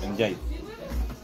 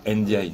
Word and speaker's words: Ndiaye: Aussi, mais en France, ils diront Ndiaye. Oui, parce qu'ils savent pas dire Ndiaye. En fait, ils veulent prononcer toutes les lettres. Le fait d'avoir deux consonnes en France, c'est bizarre. Donc t'as le N avec un apostrophe et du coup tu dis Ndiaye, tu sais pas.